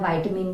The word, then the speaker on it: vitamin: अब ये जो वर्ड है ना विटामिन, आप इसे विटामिन भी बोल सकते हैं, वाइटामिन भी बोल सकते हैं, जो भी आप प्रोनाउंस करते हो, मैं इसे विटामिन बोल रही हूँ, तो आई